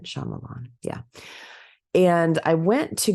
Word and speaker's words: Shyamalan: Pretty sure that's how you say it, Shaymalan.